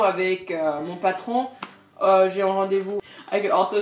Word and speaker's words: rendez-vous: Un rendez-vous. C'est le même, mais ça se prononce rendez-vous.